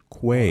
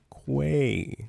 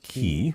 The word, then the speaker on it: quay: These things right here make pronounced perfect. Boundaries. Uh, say it with me now with a Q. Quay. That's beautiful. Quay, not key.